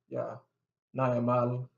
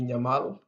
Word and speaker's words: Nyamal: ny about pronounce and 90% of the Nuer ladies' names begin with ny, and it's often mispronounced, and they just go along. They just Naya Mal, Naya Kwat, all names like that, but it's supposed to be Nyamal or Nyakwat.